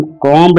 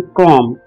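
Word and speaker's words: comb: दोस्तों, इस वर्ड में बी साइलेंट है, हम कॉम्ब नहीं कहेंगे, हम कहेंगे कॉम्ब।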